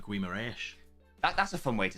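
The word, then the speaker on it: Guimarães: I like saying Guimaraes. That's a fun way to say it, yeah. Guimaraes, that's how you say it, yeah.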